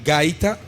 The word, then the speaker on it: gaita: a traditional instrument, and you will have to pronounce it for me. But okay, it's called gaita, Gaita, gaita, and it's made from the cactus.